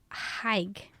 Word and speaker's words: Haigh: talk about John George hike and his name is spelled all weird but I looked it up and that's how I think I'm supposed to pronounce we'll go over that